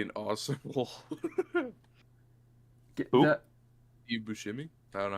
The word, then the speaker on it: Buscemi: Steve Buscemi? I don't know how to pronounce the last name.